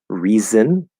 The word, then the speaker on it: reason: analysis that's an s reason reason reason reason reason reason that's a z um the z now